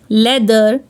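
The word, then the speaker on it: leather: में आ रहा है अगर टी एच वर्ड के बीच में आ रहा है और टीटीएच के पहले भी एक वावल है और टीटीएच के बाद में भी एक वावल है तो टी एच को द रीड करेंगे फॉर एग्जांपल वेदर लेदर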